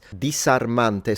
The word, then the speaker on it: disarmante: So when the S is in between two vowels, he's pronouncing it as it's a fricative still, but it's the S variety, rather than the Z variety.